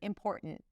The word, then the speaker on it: important: She starts with an sound, then an important. Important. And then core. Definitely want to pay attention to the R here. Poor. Poor. And then there isn't really a T there. It's a glottle stop.